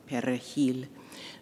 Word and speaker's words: perejil: you know this story, to pronounce the Spanish word for parsley, perejil. Those who could roll their R's were from Dominican origin. Those who could not, and it came out as an L, as a perejil, spoke